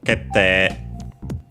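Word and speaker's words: 決定: doubling of the consonant, that the E after an E is usually pronounced nowadays, at least in Standard Japanese, as long E is the lengthening of the vowel E. So, kete.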